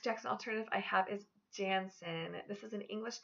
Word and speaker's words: Jansen: My next Jackson alternative I have is Jansen. This is an English name that means son of Jan. This can also be pronounced Janssen or Johnson.